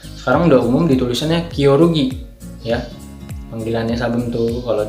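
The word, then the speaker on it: 겨루기: ya pertandingan fighting Yagi bahasa Koreanya itu gioro gitu nah dibacanya kyorugi tulisannya g&y ya oh rugi Yogi dibacanya yo rugi nah orang Indonesia nulisnya kyorugi jadi begitu Apa yang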